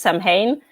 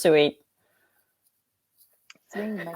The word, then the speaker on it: Samhain: i n so most people perhaps say it's Samhain but it's actually pronounced s my Halloween cool um so we look at these